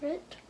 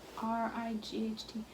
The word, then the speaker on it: right: Is that Rit? Rit. Oh, R-I-G-H-T. Oh, when you see I-G-H-T, that means you pronounce it I.